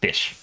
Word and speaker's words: Ghoti: Pronounced fish. Explanation is GH in the word tough makes an F sound. The O in women makes an I sound. And TI in attention makes a sh sound.